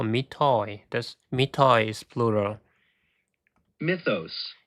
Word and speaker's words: mythos: mythos Mitos, not mitos. Mitos. mythos Mitos. mythos Mitos. So, the stress is in the first syllable, right?